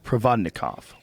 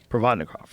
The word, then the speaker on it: Provodnikov: nikov how do you say his name rouson provodnikov provodnikov right I'm so high definitely shouldn't be doing